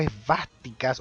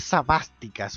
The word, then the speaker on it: esvástica: El hecho de en un videojuego tener lleno de suásticas o esvásticas o como lo quieran pronunciar, pero pronúncialo de cualquier manera menos sabásticas.